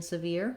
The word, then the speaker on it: severe: So letter E has sound E in severe. I've rewritten it here like this word, veer, which has the same pronunciation. Again, starting with that stress syllable, veer, severe, is going to potentially help you to get the rhythm and the vowel sounds right.